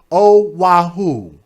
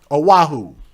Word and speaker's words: Oahu: How do you pronounce it? Oahu? Oahu. Thank you. Oahu.